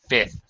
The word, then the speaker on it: fifth: this there you go fifth you don't need to pronounce the second f in fifth by the way okay